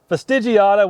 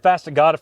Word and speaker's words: fastigiata: uh Cedar Atlantica ftig fastigiata we always said fastigata for years and then we realized man I've been say it wrong my whole life has any of y'all